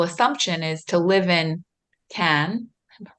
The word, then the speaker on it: Cannes: it's It's not tricky. Can and it's not Con. It's in between the two.